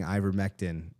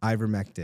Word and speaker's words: Ivermectin: So I remember him saying ivermectin in something to do with. How do you pronounce it? Ivermectin.